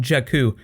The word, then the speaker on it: Jakku: It's actually not Tatooine, it's called Jakku. No idea how that's spelled right now, I think it's Jakku.